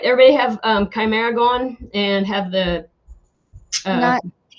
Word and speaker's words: chimera: like that for the dna piece it's called chimera not primera right hmm is it called chimera it's chimera okay i was trying to i was searching